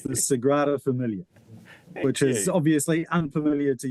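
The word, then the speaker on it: Sagrada Família: Let's start with the pronunciation of that, Ryan. So it's the Sigrada Familia, which is obviously unfamiliar to you.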